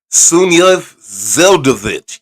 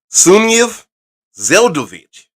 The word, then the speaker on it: Sunyaev-Zeldovich: It's Sunyaev-Zeldovich. You have to say it like a Russian. Sunyaev-Zeldovich.